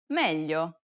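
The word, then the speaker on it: meglio: Learners to pronounce yeah It's A peculiar sound because it sounds somewhat like an English L but not exactly the problem arises when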